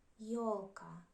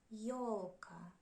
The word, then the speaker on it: ёлка: If you see letter yo in the sentence, it is always stress on it. It is always stressed. Like in words ёлка, ёлка, еще, еще.